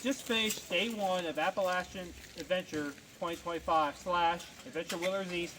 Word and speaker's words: Appalachia: We have just finished day one of Appalachian Adventure 2025 slashadventure wheelers east 2025. I'm going back to my roots. We're in Appalachia. Okay, that's how you pronounce it.